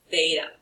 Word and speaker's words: theta: This symbol that we have in here, it's actually it's a Greek word. We use it a lot in the trigonometry class. The word is pronounced theta.